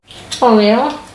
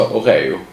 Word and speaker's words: Oreo: There is only one right way then? -Oreo Oreo! -Oreoo Oreo Though there are some who say Oreeo -Okay? A little Swedish sounding -A little How do